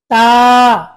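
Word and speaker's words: ت: থেকে আদায় হবে বা তা বলুন তা বলুন তা উচ্চারণ জিহ্বার আগার থেকে পাতলা করে আদায় করতে হবে তা সা উচ্চারণটা সবসময়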